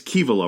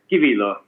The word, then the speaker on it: Kivilo: your last name correctly it's kivalo right i said that correctly yes uh fairly correctly it's kibilo but uh but you were very close okay good because i